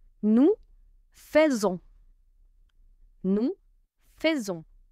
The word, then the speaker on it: faisons: Je fais tu fais roule tu fais il ont fait letter T fait is silent nous faisons nous faisons letter S over here sounds because linked Faison